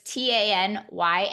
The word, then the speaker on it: Tanya: So it's Tanya, like you're going to get a tan in Miami.